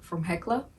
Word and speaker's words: Hella: It was like an hour away from Hekla. But like if you write it out, it's Hella.